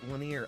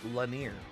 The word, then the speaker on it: Lanier: and uh timothy wooley it's pronounced linear i i said lanier i i don't understand what you cannot hear when i say la nir you spelt it exactly the way i pronounced it anyway qualifying is